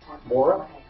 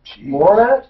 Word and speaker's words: Borup: Bora. How do you spell it? B-O-R-U-P, Minnesota. Borat?